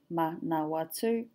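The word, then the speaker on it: Manawatū: The same in manawatu, manawatu. So it's not man, watu, it's manawatu, manawatu.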